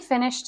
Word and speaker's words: finished: gosh it was amazing now finished has a t ending for Ed we often have to know which pronunciation of the Ed ending it is and a lot of the time you just have to memorize these here it's a te I finally finished it I